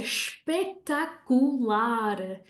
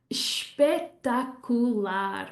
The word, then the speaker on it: espetacular: Or you could say espetacular, espetacular, which means like wonderful, spectacular. Don't forget that shush sound in it.